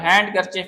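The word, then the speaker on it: handkerchief: तो ये वेनस देख रहे हैं आप, इसमें देखो डी साइलेंट है, और हैंड करचिफ में जो है वो डी हमारे पास साइलेंट है।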